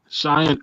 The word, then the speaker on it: Cheyenne: Dugout for ecwa there you go the voice Cheyenne Ortiz am I pronouncing your first name right that's it Cheyenne that's it okay man Chey orz what is